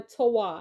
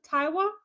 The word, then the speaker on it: Taiwa: Is this Taiwa or Tawa? I I just want to know that I'm pronouncing your name right. Um Jerome, hey, thanks for being here. Go ahead for me. Let's run up those like. Appreciate you. Which one is it? The first one, Taiwa or Tawa?